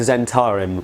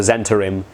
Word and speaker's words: Zentarim: This guy might, because he's a spy, and he is looking for bad guys, specifically the Zentarim, which I'll talk about in a second, or the Zentarim, depending on pronunciational preferences.